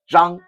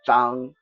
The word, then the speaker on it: Zhang: In English, it's spelled Zhong, Zhong, but it's just pronounced Zhang. Okay, so Wang, Li, Zhang, those are the three most prevalent Chinese family names.